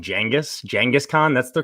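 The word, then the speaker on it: Genghis Khan: i cannot respect you enough for saying jengas jengas khan that's the correct way to pronounce it all right thank you thank you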